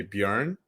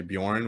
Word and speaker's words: Björn: be a uh be like an oe so in sweden people would say bjorn um people in the u.s kind of say bjorn which is totally fine i think that's what most people say and um it actually